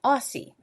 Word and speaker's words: AWSSI: So, the thing I invented was uh a weather index called the accumulated winter season severity index, AWSSI, which I pronounce as AIE.